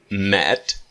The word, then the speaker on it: met: The pronunciation of meet is that EE is a long sound. Meet. But met is very short. So it's long and short. Meet, met. Meet, met. Got it?